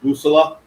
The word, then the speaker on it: Bussola: And so the real pronunciation of it is Bussola, which is in translation is compass.